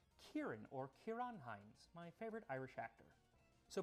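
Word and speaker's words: Ciarán Hinds: I used to think his name was Sirinheind, but it's actually pronounced Kieran or Kiranhines, my favorite Irish actor.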